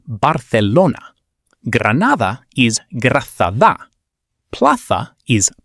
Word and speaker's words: Barcelona: In Spanish, the letter Z and the letter C before E or I always sound like the TH in think, never like an S. Barcelona is Barcelona.